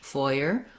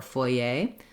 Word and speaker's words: foyer: So both of these are correct and used commonly in English, foyer or foyer. The difference is the syllable stress and the presence or absence of that R sound. In French, it's more like foyer, foyer, where they have a different the vowel is not the same, and there's a bit